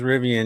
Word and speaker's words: Rivian: car she's so Austin I got a car that rhymes with my name do you got a rivan it's Vivian's rivan rivan's rivian you're going to have